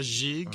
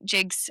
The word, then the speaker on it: gigue: Uh, Magister Annie says, "Does it give anything away if I say that jig is pronounced with a soft G in French?" A jig.